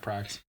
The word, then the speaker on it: Prax: Pax was the thing that. Prax, there you go. You said tracks. Pronounced Prax. So moving into the end